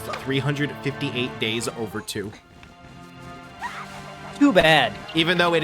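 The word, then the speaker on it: 358/2 Days: I say its name wrong on purpose, but it's actually supposed to be pronounced 358 days over 2.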